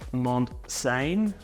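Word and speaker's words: Montseny: Now, as a bit of a tip for those visiting the Girona region, the Mons, pronounced Monsane National Park is a must visit.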